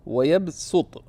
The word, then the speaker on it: يَبْسُطُ: وَاللَّهُ يَقْبِضُ وَيَبْسُطُ. Right? Now, it's written in the Quran with what? With a sad. But it's pronounced as a sin.